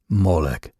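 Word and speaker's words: Molech: They vocalized it as molec, a sound that closely resembles the Hebrew word borchet, meaning shame.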